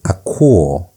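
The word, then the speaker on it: ἀκούω: Next word is Aquo. Aquo. You have that diphthong there. So you pronounce it as one sound.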